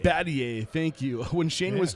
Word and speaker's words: Battier: for me I don't want to destroy it Battier Battier thank you when Shane was traded to the